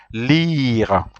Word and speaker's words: lire: to read which is Lee repeat after me lira is a the web to read yeah is